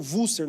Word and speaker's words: Worcester: Numa cidade chamada Worcester, que escreve, mas eles pronunciam Worcester no afrikaans.